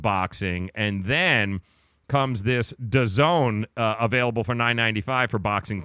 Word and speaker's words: DAZN: It's called DAZN. That's how it's pronounced.